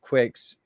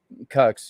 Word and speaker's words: QUX: and um into um q-u-x bucks it's called quicks that's the way we pronounce it but i don't know it's gotten all politicized and people say cucks you know like like